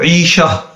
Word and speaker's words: عیشہ: بعد جو ہے وہ جو اصل تلفظ ہے وہ کیا ہے، جس طرح قرآن پاک میں بھی ہے فَهُوَ فِي عِيشَةٍ رَاضِيَةٍ، عیشت تو عیشہ تو یہ مطلب بنتا ہے، اس کا مطلب ہوتا ہے زندگی۔ تو بہرحال جو الف